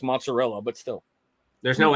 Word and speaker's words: mozzarella: I was gonna ask Miss Rebecca pronounce mozzarella, but still, there's no A. It's mozzarella.